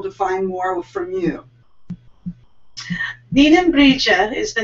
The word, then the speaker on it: Nigheanbrighde: Ninembrija is NIGHEANBRIGHDE. Yes. Just forget all the hard vowels. I mean, hard consonants whenever you say Celtic language. You just, if you've ever seen... Run it all together.